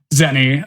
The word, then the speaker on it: Xeni: I don't know how long that took me, but I imagine it was an eternity longer than it took Zenny.